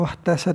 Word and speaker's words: واحتست: Jadi wahtasati artinya gimana cara baca wahtasat itu dengan sukun sin dan ha yang muhmalah, yang tidak bertitik, dengan sukun ha, salah baca tadi. Dengan sukun ha bukan sukun sin.